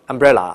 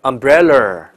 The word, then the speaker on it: umbrella: “ 伞 ” 啊，umbrella，有这么一首歌的，对吧？但是很多人就把它读成 umbrella。舌头就卷起来，自然卷